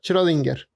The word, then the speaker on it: Schrödinger: ahí está, así como se pronuncia Schrödinger.